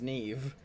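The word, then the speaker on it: Niamh: I'm fully aware that that spelling is pronounced Nev yeah I is it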